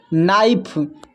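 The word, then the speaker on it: knife: के letter silent कब होता है देखिए, जब के के बाद एन आए तो के साइलेंट होता है। ध्यान में रखना है, के बाद एन आए तो के साइलेंट होता है। यहाँ पर देखिए नाइफ, इसमें के साइलेंट है।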